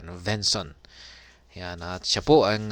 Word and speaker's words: Svenson: iba kundi si Kevin svenson yan silent s po siguro venson yan at siya po